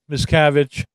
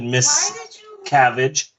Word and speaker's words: Miscavige: Because it literally had like 3 or 4 different pronunciations of this guy's name. Because literally, it just... I think like miscarriage. Yeah. Miscarriage. Miscavige.